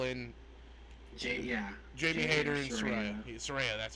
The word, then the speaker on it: Saraya: Saraya, that's how you say it.